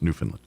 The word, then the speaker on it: Newfoundland: But it's pronounced Newfoundland.